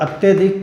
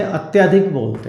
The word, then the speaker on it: अत्यधिक: और अत्यधिक को हम बोलते कैसे? अत्यधिक बोलते हैं, जबकि शुद्ध उच्चारण उसका क्या है? अत्यधिक। अतः शब्दों को शुद्ध करने